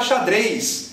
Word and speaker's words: xadrez: Qualquer Z escrito em posição final vai ser pronunciado S em português.